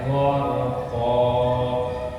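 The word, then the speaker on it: غَرْقًا: Wan nazi'ati gharqa, go sama r, gharqa.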